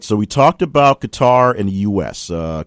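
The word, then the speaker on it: Qatar: so we talked about qar and the US uh qar qarqar however you want to pronounce it but cutter uh is the country that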